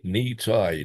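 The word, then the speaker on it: Nitai: knee tie. Knee like like your knee and tie like you know uh what you wear around your neck.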